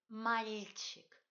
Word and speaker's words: мальчик: Pour prononcer bien ce mot, il faut palataliser li au milieu. Coupez le mot en deux. Prononcez mal, cette coupure mentale. Personne ne voit votre petit arrêt. Et continuez. Чик. Мальчик.